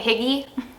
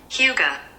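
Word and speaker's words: Hygge: I always mispronounce this. I always want to say Higgy. Huga.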